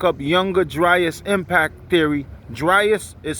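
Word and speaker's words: Dryas: So if you want to look up younger dus impact theory, dryus is spelled dr r y a s.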